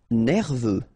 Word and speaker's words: nerveux: Nerveux. Final X not pronounced.